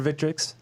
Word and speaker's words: Victrix: I'll let you get a plug in here for Victrix. Am I pronouncing that right? Victrix?